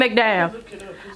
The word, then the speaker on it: McDowell: William McDowell.